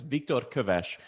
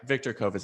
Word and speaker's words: Viktor Köves: i tell people the the correct pronunciation of my name is viktor kovesh but those sounds don't exist in english so i never i as my parents are very disappointed in me this i just give up on on having the pronunciation correct viktor kovis is totally fine so thank you victor